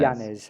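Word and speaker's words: Llanes: Janes. How do you spell that?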